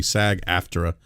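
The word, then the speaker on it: SAG-AFTRA: the the actors Union uh which is the SAG aftra I hope I pronounced that correctly by the way sag after uh they are is that correct uh Ramon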